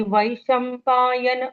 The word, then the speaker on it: वैशम्पायन: यन यन यन हम्म, न का न नहीं आना चाहिए, न आना चाहिए, है ना। नल का ही न है, लेकिन उच्चारण पूर्ण होना चाहिए।